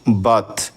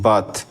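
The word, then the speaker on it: birth: আর টি এইচ বার্থ এখানে আমরা আর এর পরে টি কনসোনেন্ট পাচ্ছি সেজন্য আর এর উচ্চারণটা এখানে হবে না তাই বি আই আর টি এইচ বাথ আমরা বার্থ বলবো না বি আই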